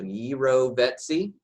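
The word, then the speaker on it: jirovecii: So gyrovetsy. If you're having trouble spelling, you might still want to see gyrovecki, as I would say, for spelling purposes only. But it is actually pronounced gyrovetsy.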